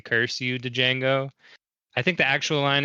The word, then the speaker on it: Django: floor saying curse you Django I think the actual line is something different but Jamie Fox rep playing the D is silent hillbilly such a good